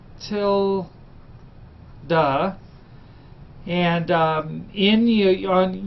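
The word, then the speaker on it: tilde: use this little symbol this is a Tilda that's pronounced till du and um in you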